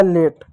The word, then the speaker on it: late: उसी प्रकार एक और शब्द है LATE, एल का ल पढ़ दो, ए का ए की मात्रा पढ़ दो, टी का ट पढ़ दो, हो गया लेट।